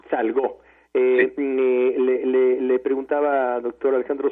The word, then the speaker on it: Salgó: Es Salgo, con acento en la O. Salgo.